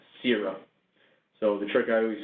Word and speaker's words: Séura: First and foremost, it is pronounced Séura.